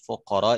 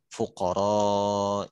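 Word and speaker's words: الفقراء: Iwal masakin innamas shodaqotu orang itu bacain nama sodako tulil fuqoro Iwal masakin jadi bacanya pendek gitu terus Atep NU Mas'ud bukan begitu bacanya terus set eh Bagaimana engkau mendapatkan bacaan itu dari Nabi SAW beliau kasih tahu bacanya dengan lebih panjang fuqoro Iwal mah sakit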